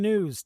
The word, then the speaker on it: gnus: And then they say and now some gnus. And they show us some some gnus, which which is pronounced news but spelled gnus.